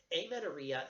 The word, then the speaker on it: amenorrhea: as Amen or Mia am en Orr HVS weird spelling to our silent H amenorrhea is the absence of